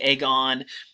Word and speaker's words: agon: It depends on how you pronounce it, right? They would have pronounced it agon. It looks like agon. I'm going to say agon, right, because it sounds like agony, and that's how you're going to think of it.